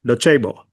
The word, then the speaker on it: Docebo: How do you First of all, am I pronouncing it right? Dobo.